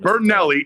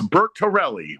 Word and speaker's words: Bertorelli: Not Bernelli, it's Bert Tellerelli.